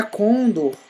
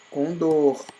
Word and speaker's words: condor: O correto não é condor, e sim condor.